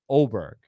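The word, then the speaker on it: Åberg: around the corner to auberg or oberg but in Swedish that has a special symbol over the A and so it's pronounced oberg his career took a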